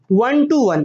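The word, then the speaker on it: one-one: ठीक, अब क्या हो सकता है, एक और क्या था, वन टू वन, इसको बोलते हैं वन टू वन, लिखते ऐसे हैं, क्या लिखते हैं, लिखते ऐसे हैं वन वन, बट प्रोनाउंसिएशन होता है वन टू वन।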